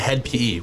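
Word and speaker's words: Hed PE: HED. And then it's PE, like P.E.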